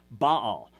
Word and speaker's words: Baal: do with the word Baal. Now, you'll see this as a proper name, B-A-A-L. You normally pronounce it Baal, and you know him